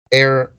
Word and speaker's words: heir: the intent of depriving an air heir that's h e r silent h or H that's what